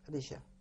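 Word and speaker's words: Rysio: years younger than me, and his name was Risha. Do you want me to spell it for you? It's a Polish name. Do, please. Yes. R-Y-S-I-O. Richard, Risha.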